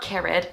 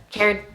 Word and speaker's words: cared: It's not carried, it's not shared, it's just cared, shared. 1 syllable.